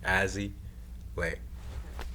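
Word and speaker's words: Azzy Lei: So like Leon, like it's like Lay and one put together, but it's like Leon. It kind of that's how I pronounce it.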